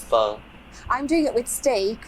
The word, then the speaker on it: pho: pan it's a vietnamese foe it only takes ten pronouncing it wrong so it's not full it's fun i'm doing it with